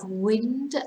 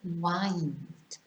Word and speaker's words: wind: from side to side so we have wind and wind then we have wound and